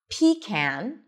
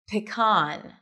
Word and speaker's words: pecan: You can either pronounce it as pecan, pecan, where the stress is on the first syllable, pecan, or pecan.